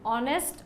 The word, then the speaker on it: honest: Because we should not pronounce the first letter H here. It is honorable, honest, honorable, honor.